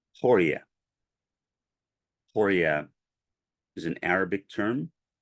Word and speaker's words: Ḥūriyya: being whom I called Ḥūriyyaʿ. Ḥūriyyaʿ is an Arabic term. The more common Turkish pronunciation of her name is Huri. The Persian pronunciation of her name is Hori.